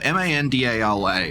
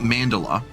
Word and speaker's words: Mandala: m man mand it's spelled Mandala m- a n d a l a right mand it's not mandela I'm fairly certain it's mandala we can start using